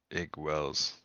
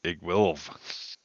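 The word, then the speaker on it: Iggwilv: Igwells. Oh, Oh, Igwilv. you weren't pronouncing the Iggy.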